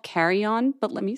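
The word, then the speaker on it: car.eon: raise a wand to the line it's called carry-on but let me spell it for you c-a-r-dot e dot o n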